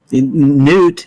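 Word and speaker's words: Noot: It was once a newt, hence the name. It's spelled different, however. N-O-O-T. Yeah, now it feels like the sound a bird would make, maybe.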